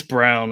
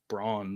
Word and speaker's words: Braun: Yeah, it's Brown. I noticed that last season they called him Brown. I had to look at. I thought it was Braun the first season he was at Kansas. It's spelled Braun, but I guess he pronounces it differently.